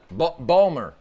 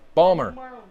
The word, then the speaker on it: Baltimore: I'm in Baltimore yeah Balmer Balmer you got to say it right Balmer Baltimore Maryland down by